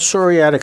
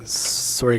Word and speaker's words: psoriatic: Yeah, it's Starts with a P, like pneumonia.